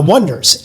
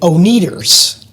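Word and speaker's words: Oneders: for the Wonders and they spell it o n e d e r s and the trouble right away is that not everybody knows how to to pronounce the name and they get announced on stage and on the radio when people are calling them the oners because they're sort of looking at the letters and the words more literally and not catching the play on words and calling them the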